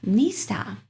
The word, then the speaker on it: نیستم: من کارمند نیستم. And the stress is on ni, okay?